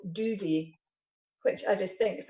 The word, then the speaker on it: Duvet: So just for people, that's Duvet. Yeah. Not saying that you've got an accent. But yeah, so it's spelled D-U-V-E-T, isn't it? So people looking on the bed, yeah, like your bed duvet, because it just wraps